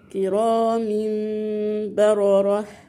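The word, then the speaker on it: كرامٍ بررة: كرام م نطقنا الايه ما قلناش كرام ما نطقنا نون كده خالص لا احنا نطقنا ايه نطقناها مم نطها نطقناها ايه ميم خلاص مع الغنه كرام برره خلاص كده يبقى انط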